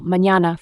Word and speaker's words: mañana: The letter Nye, which is N with a tilde on top, is pronounced nye as in canyon, for example, mañana for morning.